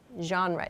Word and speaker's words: genre: artists or to talk about your favorite genre genre is the pronunciation of this word okay so let's move